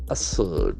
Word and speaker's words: assert: Assert, that is a very powerful word in English language. A-S-S-E-R-T. Assert. Assert, the accent falls the second syllable.